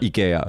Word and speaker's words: IKEA: it all though well the name is ikea isn't it really that's the actual pronunciation in japan they call it ikea yeah yeah because they've